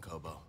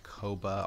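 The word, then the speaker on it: Koboh: else we've seen on Kobo nice if I've been pronouncing this place Koba all this time it's Kobo if there is no a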